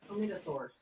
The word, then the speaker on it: Chlamydosaurus: Chlamydosaurus. Yeah. Like chlamydia, but a saurus.